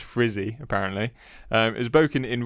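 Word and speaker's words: Frzy: Broken by a guy called Frisbee, spelt F-R-Z-Y, but it's pronounced Frizzy, apparently.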